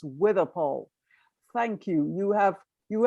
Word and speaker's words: Withypoll: do we have any views on whether it's withy paul or witty poe it's spelt both ways it's pronounced with a pole street these days but that doesn't mean that's